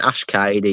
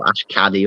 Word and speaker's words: Ash Cady: Yeah, Ash Cady, yeah. Yeah, a lot of people mispronounce his name. He gets called Ash Caddy all the time, and it winds him up.